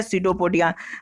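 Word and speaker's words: pseudopodia: और ये जो संरचना दिखाई देती है स्ट्रक्चर, इसी को बोलते हैं स्यूडोपोडिया। क्या बोलते हैं, देखिए स्यूडोपोडिया का स्पेलिंग देखिए, पी से शुरू होता है लेकिन बोलना है इसको है स्यूडोपोडिया।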